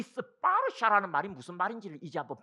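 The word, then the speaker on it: स्पर्श: 그럼 이 스파르샤라는 말이 무슨 말인지를 이제 한번 분석을 해드릴 테니까 들어봐라. 촉을 인도말로 스파르샤. 사실은 이 스파르샤 할 때 샤는 영어로 하자면 K 발음으로 많이 나옵니다.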